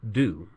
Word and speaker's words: do: The word do is the base spelled D-O, and it is pronounced do in doing, undo, and redo, but it's pronounced duh in does and done.